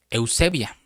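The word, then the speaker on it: εὐσέβεια: Y esta palabra piedad se traduce la palabra griega 2150 de la concordancia Strong y se y es una palabra griega que se pronuncia eusebia y eusevia quiere decir esquema del evangelio, forma de vida.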